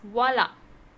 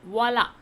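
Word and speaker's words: voilà: The next is voila. Voila. Voila. How to pronounce? Voila with an accent. So voila. Voila means there is, or there are.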